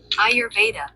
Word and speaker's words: Ayurveda: So I want to know how to pronounce that. A Y u R E D A Ayurveda Ayurveda.